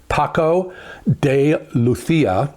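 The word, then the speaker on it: Paco de Lucía: And it is a duet with Al Demiola and Paco de Luthia. That's how you pronounce it.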